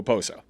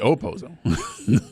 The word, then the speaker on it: Okposo: Because I always hear people just go Okposo. Like the K is almost Okposo. I understand I understand that there's a K in it. Opozo. But I just never hear the K sound being pronounced with his name.